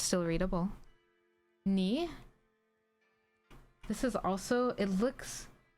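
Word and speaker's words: ニ: Ni. This is also, it's very funny. This is identical to the kanji for 2, and it also is pronounced exactly the same.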